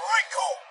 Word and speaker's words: Recoome: Because the names are Recoome, and it rhymes with doom, and you're going to be hurting all Wrestling's fake.